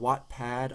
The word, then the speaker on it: Wattpad: you've got places like the wot app it's called Wattpad I think is the original and then there's like an app version so what it's spelled wate like you know the power in a light bulb or whatever that's one big